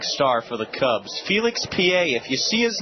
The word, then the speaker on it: Pie: Felix P.A., if you see his name, don't be confused. It's spelled like pie, P-I-E, but it's P.A.